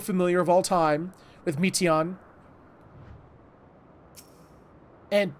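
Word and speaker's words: Meteion: of all time with Meteon. And her name has meat in it, or at least that's how they pronounce it.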